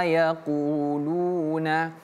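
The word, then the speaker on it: يقولون: wasbir ala maa yaquuluna ini menggunakan huruf qf Qu yaqu ya qu qo qu jangan yaak yaakulu artinya makan tapi kalau yaakulu artinya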